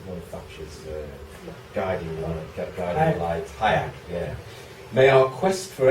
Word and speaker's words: Hayek: "Dear God, invisible hand, or spirit of Friedrich Hayek," is that how you pronounce his name? He's one of Thatcher's guiding lights. Hayek, yeah.